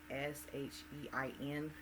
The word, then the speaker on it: SHEIN: If I'm mispronouncing the clothing line, I apologize. It is SHEIN.